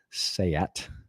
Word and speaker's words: SEAT: The Seat Leon Cupra R. Yes, that's how you say it. It is not seat, according to the Brits.